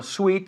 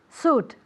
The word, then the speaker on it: suit: Ahora, cuidado, porque esto no es sweet. Yo sé que muchos pronunciáis traje como sweet. ¿Y eso cómo se pronuncia? Suit. Ah, muy bien. Suit. And Annette is very? Sweet. That's right. I So no lo don't know. confundáis. Suit, sweet.